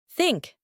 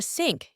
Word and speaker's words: think: think also tooth North some of the beginners or non-native speakers try to change that the sound to letter S and they get a sync instead of think While others pronounce it like zinc with a letter Z